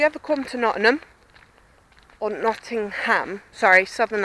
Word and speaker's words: Nottingham: come to Nottingham or Nottingham sorry southern accent gets in the way and I pronounced it not in them and people go no it's not in ham and I can't actually